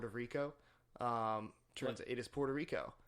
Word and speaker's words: Puerto Rico: rico how do you how do you say Puerto Rico Puerto Rico Puerto Rico when when I was I used to think it was port of Rico mmm thought it was